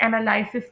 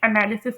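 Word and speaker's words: analysis: Mostly लोग even जो MPhil के स्टूडेंट्स हैं वो भी इसे एनालिसिस प्रोनाउंस कर रहे होते हैं। लेकिन ऐसी बात बिल्कुल नहीं है। इसका बहुत ही बुरा इंप्रेशन जाता है। इसे एनालिसिस प्रोनाउंस करते हैं।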